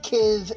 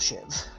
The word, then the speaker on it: Shiv: I've been told it should be pronounced Kiv and Kiev, just based on how it's spelt. But I've always called myself Shiv, because it sounds funnier.